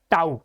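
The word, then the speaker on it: tau: pronounce कैसे करते हैं we pronounce it एज टऊ okay उसके बाद ये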